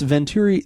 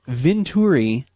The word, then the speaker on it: Vinturi: no so what this Venturi this I just see I already said it wrong what this Venturi Vin does Vin as in Veno as in wine I'm sure that's what